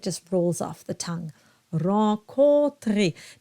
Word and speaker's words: Rencontrer: Rencontrer. Now the O-N is a nasalized O. So you have an O, drop the soft palate, and then it's nasalized.